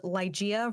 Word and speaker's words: Ligeia: is your youtube channel because you could probably pronounce it better than i can yes so my youtube channel is ligea resurrected so it's l-i-g-e-i-a resurrected and it's inspired